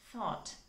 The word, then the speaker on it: thought: next word is thought it should be pronounced as thought you should take the tip of your tongue and keep it between the teeth you know and then try to push the air out that is thought right thought is the